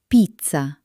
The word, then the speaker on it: pizza: In English, it's soft, but in Italian, it can sound like ts ts ts as in pizza or dz dz as in zero. Let's try again. Pizza.